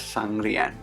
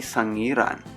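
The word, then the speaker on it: Sangiran: last episode i made a significant mistake by pronouncing the village of java man museum as sangrian it's actually sang iran apologies for that mistake will be more careful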